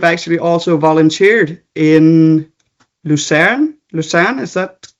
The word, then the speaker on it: Lucerne: Lucerne, is that pronounced correctly?